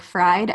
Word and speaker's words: Fried: Fried is spelled like fried, Fried.